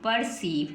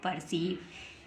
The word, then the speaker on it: पर्सीव: आर सीई आईवी ई पी ई आर सीई आईवी ई तो क्या बन गया यह तो बन गया पर और यह बन गया ये तो बन गया पर ये बन गया ईव क्या बन गया ईव तो परश ईव पर्स ईव है ना पर्ष ये बन गया ई पर्सीव क्या बन गया पर्सीव ऐसे ही नेक्स्ट लिखा